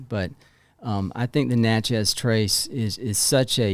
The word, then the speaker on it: Natchez: tree and i uh in mississippi they call it natchez and i was like okay is it not natchez like no it rhymes with matches okay i was like